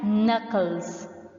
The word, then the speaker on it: knuckle: nails too is cracking knuckles cracking knuckles remember students in knuckles K is silent knuckle you will start the